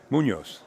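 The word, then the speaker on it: Muñoz: Munoz, yes.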